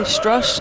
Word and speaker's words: Strus: Am I saying it correctly? Struss as their two-way guy? Yes. Max Struss.